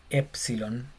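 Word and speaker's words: ἔψιλον: Esta E se llama epsilon. Y es igual a nuestra E, pero es corta, porque hay una larga, como en queso.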